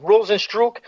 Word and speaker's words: Rozenstruik: Rozenstruik. What do you call it? Rozenstruik. Rozenstruik. I like it because he strikes very hard. He hits hard. It's Rozenstruik. It looks like Struik. It's Rozenstruik. And you know I watch